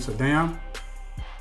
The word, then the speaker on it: Saddam: a few now had Saddam Hussein or some people pronounce his name so down had he would have